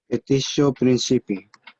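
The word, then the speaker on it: petitio principii: Petitio principi. Again. Petitio principi. So Lucia got there was one part though of the pronunciation of Lucia that she missed.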